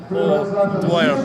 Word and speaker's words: Dwyer: It's Dwyer. Dwyer? Dwyer, yeah. Wait, how are you pronouncing it? Horribly, just horribly the whole day. Oh, Dwyer. Oh, Dwyer, yeah.